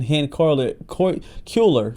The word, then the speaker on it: Cuellar: But um only a short time after signing the pardon, Congressman Hen Ker Culer, that's how you say his name, announced that he will be running for congressman again in the great state of Texas.